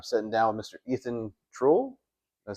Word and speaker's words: Truell: Ethan Troll.